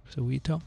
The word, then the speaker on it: Soweto: Locally produced vaccine being tested in Soweto. And Cape Town, is that pronounced right, Dick? Soweto?